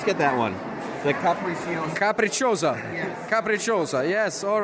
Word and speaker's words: Capricciosa: How do you pronounce it? We actually we're not getting any eggplant. Let's get that one. The capriccio. Capricciosa.